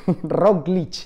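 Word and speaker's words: Roglič: primera conclusión rogli gana rogl como roglich esta es la pronunciación correcta roglich gana pero sufriendo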